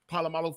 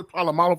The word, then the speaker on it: Polamalu: And then I can't pronounce Palomalo for nothing.